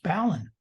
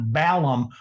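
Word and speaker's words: balun: b-a-l unbalanced b-a-l-u-n is ballon and it's certainly not balum all I come throwing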